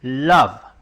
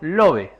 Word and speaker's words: love: La segunda palabra, por ejemplo, un corazón significa amor y se lee love, no como está escrito love, sino que love.